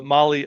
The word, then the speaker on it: Mahle: And of course, for our podcast listeners, Molly is spelled Mahle.